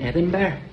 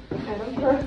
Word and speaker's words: Edinburgh: No, not in Aberdeen, but in Edinburgh. I don't know how to say it. Edinburgh. Edinburgh. Edinburgh. Edinburgh. Edinburgh. So you say Burgh, but it's not like that. It's Edinburgh. Edinburgh.